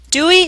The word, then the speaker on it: Dewey: He dismissed Dewey, whose name, he said, rhymes with hooey. Dewey hooey.